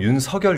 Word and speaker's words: 윤석열: 근데이 그 윤성열이 제가 이제 발음을 할 때 윤성열 이렇게 발음을 하거든요. 네. 근데 이제 대부분 윤석열 이렇게 발음하잖아요. 뭐가 맞나요? 아 이거는 한자로 보면 윤석열이 맞는데 그 얘기를 하더라고요. 본인이 이제 원하는게 윤성열로 들리길 바랬다고. 그래서 아 그러면 석열이라고 해야 되겠네.